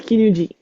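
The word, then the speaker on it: 絹: Um kin normally it might not be pronounced in this context though. Ku silk then that uh it is kinu kin.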